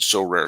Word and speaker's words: Sorare: win a variety of rewards, which can include So Rare scarcity cards, game tickets, merchandise, signed jersey, and VIP experiences like meeting stars.